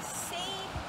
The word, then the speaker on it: seine: One is called a seine net. It rhymes with strain, and I know you know what strain means. When you make pasta, you strain out all the water. So this is a seine net, and it does